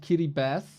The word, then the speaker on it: Kiribati: Kiriati Vi does the ti at the end really sounds like an S in English.